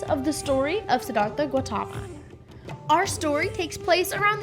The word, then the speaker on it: Gautama: temple and she said personally her temple uses Gautama so that is what I'm going with and